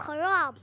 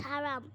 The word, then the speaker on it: haram: You're literally Bro, you pronounce haram wrong, bro. It's not haram. It's haram just because of your religious beliefs.